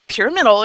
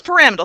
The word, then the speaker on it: pyramidal: names linear tetrahedral pyramidal pyramidal notice how that's pronounced I don't want to hear any pyramidal in classes Prowse pyramidal so really lay on your western New York nasal accent